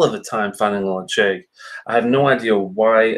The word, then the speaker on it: Ledaig: It's pronounced Ledaig, Ledaig.